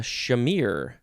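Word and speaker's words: chimere: etymology took a turn next we have uh shamir shamir c-h-i-m-e-r-e noun from the 14th century a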